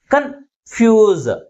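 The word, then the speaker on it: confuse: ముందు ఉంచుతాం next వన్ కన్ ఫ్యూజ్ కన్ఫ్యూజ్ ఏ సిలబల్ ఎక్కువ ఫోర్స్ కి పోతుంది second syllable is pronounce with greater force comparing with first syllable that's why the primary stress is ఆన్ the second syllable అర్థమవుతుందా next వన్ ఇస్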